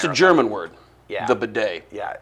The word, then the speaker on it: bidet: The bidet. Yeah, it's very German. How do you spell it? You know how to spell it? I do. Go. B-I-D-E-T. Wrong. Really? Sound it out. B-A-D-A-Y, bidet.